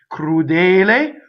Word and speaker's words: crudel: Sarò crudel, crudele, crudel, closed E. Okay, so again, the double K sound at the beginning of crudel is as close to voiced as you possibly can get, and it is done by a stop and phonation.